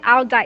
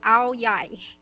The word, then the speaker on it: áo dài: Okay, so it's not owl dai, it's owl yai.